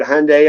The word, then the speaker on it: Hyundai: job at a Hyundai it's called Hyundai like Sunday is how you say it they corrected me what's